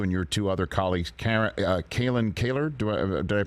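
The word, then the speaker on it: Kalyn Kahler: reporting from you and your two other colleagues, Kalen Kaler, did I pronounce it correctly?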